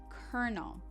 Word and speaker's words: colonel: It's pronounced kernel. This is someone in the military. So repeat that, colonel.